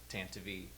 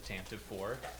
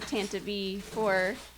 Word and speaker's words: Tantive IV: in and is mad that I said it Tantivy but that's that's how it's pronounced a and I also wish it weren't pronounced that way I always used to call it the Tampa poor but then we listened to an R I